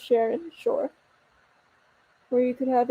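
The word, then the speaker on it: Cherin: Sharin Sharon okay so it's spelled c-h-e-r-i-n and I think it's so pretty like it could be pronounced Sharon sure where you could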